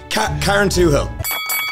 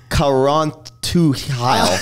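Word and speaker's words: Carrauntoohil: me off even more karen two hill ladies and gentlemen it is karen twohill oh yeah it's also i was going to pronounce that as karanth to heil oh my god thank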